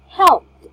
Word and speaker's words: helped: So those words ending in this one should pronounce ED as T, like washed, watched, soft, or talked. For P, helped. Help me. So helped. Okay. Help. Okay. Helped. Yes. Yeah, it's a T sound, right?